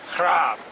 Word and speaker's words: Grave: Of course, in Dutch, I don't speak Dutch myself, I speak geen Nederlands, but the G is pronounced H, so it's like Graaf, something like that.